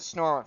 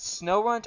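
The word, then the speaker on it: Snorunt: guess snow runs i i always pronounce it snorland for some reason let me know do you guys pronounce it snow runt or snorerent um because honestly i use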